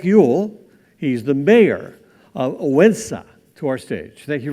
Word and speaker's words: Odense: It's called Odense, and it's spelled O-D-E-N-S-A.